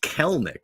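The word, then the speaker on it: Kelenic: And so we've been saying Kalenic. I believe it's pronounced Kelnick, which I don't like as much.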